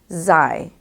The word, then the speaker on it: xi: favorite one of mine the word is zai which is spelled x i it's the 14th letter